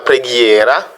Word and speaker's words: preghiera: Nous avons aussi la combinaison GH qui donne le son G. Par exemple, la preghiera, la prière.